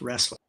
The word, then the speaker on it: Roesler: go on record that because my last name is pronounced wrestling oh sorry quite all